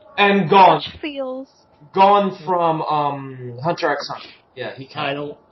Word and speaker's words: Hunter x Hunter: Gone from Hunter x Hunter. Yeah, he can't. You don't pronounce the X.